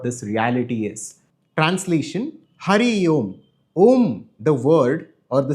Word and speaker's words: Om: First of all, Om is one syllable, one sound when it's put together, but symbolically, if we break it down, it has three components. There is A, there is U, and there is M.